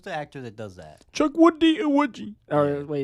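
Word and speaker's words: Chukwudi Iwuji: Chuck Woody Iwiji. Or Yeah. wait, it's actually Chuck Woody Iwiji. That's how you pronounce it.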